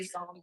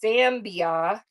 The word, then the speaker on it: Zambia: I always say Zombie like Zam. It's Zambia.